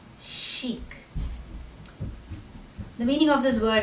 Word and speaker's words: chic: word again is lingerie the next word is chic it's pronounced again as chic chic the meaning of this word is someone or